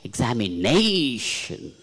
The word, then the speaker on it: examination: But whereas sometimes we say examination. Nay should be stressed.